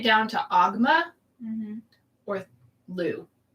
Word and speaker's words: Lugh: or Lu. Which it could be pronounced Luff because it's Lugh, like Lunasa.